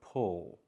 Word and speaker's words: pull: We have the sound like in good book, plus the dark L in the word pull.